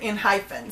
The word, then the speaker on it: ENHYPEN: also Jay, who is from the US originally, pronounce it Enhypen.